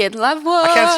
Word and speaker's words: La Voix: How do you say it in La Voix? Yeah, like that. Was that You're good? good. Yeah, la voix. Oh, yeah, that felt good. La Voix. Yeah, and then you can say it, la voix.